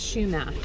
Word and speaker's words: Chumash: little history about the Chumash Indians and it's pronounced Chumash like Chumash anyway so these people are ancient they're uh